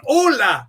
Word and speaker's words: Hola: Ola. You don't drop You don't pronounce the H.